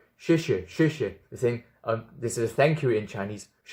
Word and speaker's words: 谢谢: The correct term to say thank you is 谢谢. 谢谢. It's an affirmative tone going down to humble yourself and stay in that humbleness.